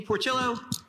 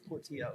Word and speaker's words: Portillo: We've got John Weir and Portillo. Let's start again. That's the gringoest way to pronounce my last name. Portillo? It's Portillo, yes. Portillo. My apologies. 2 L's is a Y.